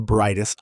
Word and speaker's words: brightest: Pronunciation note, listen for that American T sound at the end. Brightest. We don't drop it, but we don't overpronounce it either. It's crisp.